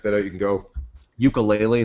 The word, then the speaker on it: Yooka-Laylee: But Ukulele, it's the spiritual successor to Banjo-Kazooie.